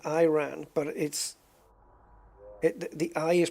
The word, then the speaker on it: Iran: But a lot of it is like take the countries of Iran and Iraq, okay? there it's Iraq and Iran, but the I is pronounced like I, you know, like I, but it's not.